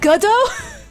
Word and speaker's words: Godot: Oh, it's pronounced Godot?